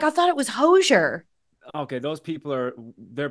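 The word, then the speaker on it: Hozier: I like but there's a lot of debate about how you say his name okay oh H Oz i e r who is that to you that's hoser that's what I said that's H people today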